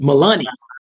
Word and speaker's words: Mulaney: Mulaney. That's how you pronounce it.